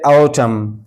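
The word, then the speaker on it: autumn: जैसे औचम औचम इसको औचम नहीं पढ़ेंगे। इसलिए कि एम के बाद एन आया है। तो अब ये एन साइलेंट होगा। इसको औचम एम पर आवाज खत्म कर देंगे।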